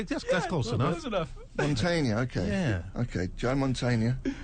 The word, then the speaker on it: Mantegna: Joe Mantegna. Yeah. Am I saying it wrong? You're getting a lot closer. Just say it once. Mantegna. It's like Tony Montana. Yeah, that's close enough. That's enough. Mantegna, okay.